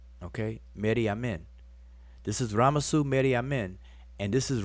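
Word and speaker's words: Ramessu: ra messu ramses and so you have a spell down here raw plus mess plus su is ramasu ramses all right and every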